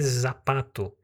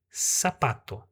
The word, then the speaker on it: zapato: A palavra sapato, ela é escrita com a letra Z. Você não vai ler zapato, você vai ler sapato.